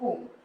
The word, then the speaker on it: Om: But when we write this in Sanskrit, this is the Sanskrit name of Om. It is divided basically in 3 different parts, okay, A, U, and Ma, okay.